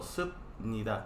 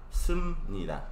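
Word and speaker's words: 습니다: Se escribe como subnida, pero en la realidad pronuncia sumnida, así. Moksumnida. Moksumnida, así. ¿Sí?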